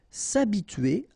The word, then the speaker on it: s'habituer: s'apprêter à s'habituer a so remember she is not pronounced here so it's a and then tué here t u e r tué sab tué s'habituer à donner quelque chose à quelqu'un.